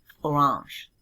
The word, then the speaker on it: Orange: Orange. That one may sound a little different. That's because they use the French pronunciation, orange.